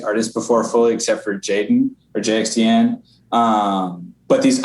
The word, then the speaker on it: jxdn: on repeat for sure so you pronounce it jaden cause i was trying i keep saying i mean i feel like such an idiot back throughout this whole episode i say juxtan because i didn't know